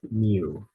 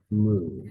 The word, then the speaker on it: mu: Now, if you took maybe a physics class, that you might have heard it pronounced mu. However, the proper pronunciation is moo, as in the cow mooing.